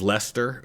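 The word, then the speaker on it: Leicester: of phonetically read it, it looks like Lchester, but they just went with Lester because it just kind of cuts out all the middle stuff.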